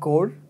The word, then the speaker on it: Corps: is where he kills the Deadpool cops the core the Deadpool code do you know these guys